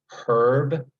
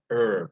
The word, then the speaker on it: herb: that's why you'll get on the East Coast H eerb is uh herb and on the west coast here H RB is pronounced the herb with the h silent dictionaries don't tell you how